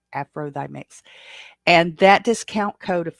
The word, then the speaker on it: AFROTHYMIX: And if you pronounce it out, it says Afro the Mix, Thigh Mix, THY, Afro Thigh Mix.